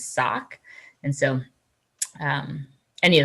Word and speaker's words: saak: start off by seeing there's a lot of different ways to a lot of pronunciations um yulkan hooligan and then the clinket name is sock and so um any